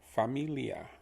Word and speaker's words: familia: me so where me the li becomes lee like the name lee like the general lee family and then the a is ah familia familia fa me li a familia please try pronouncing